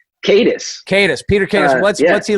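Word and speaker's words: Katis: Who's Peter Caddis, or how do you pronounce his last name? Caddis.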